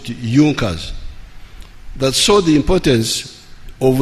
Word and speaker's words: Junker: It is written Junkers, but they pronounce it Junkers, that saw the importance of a united German market.